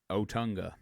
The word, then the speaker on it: Otunga: Otunga.